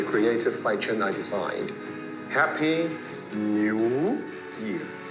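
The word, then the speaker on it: 牛: Happy New Year. The ox pronunciation in Mandarin is new, so it becomes Happy New Year.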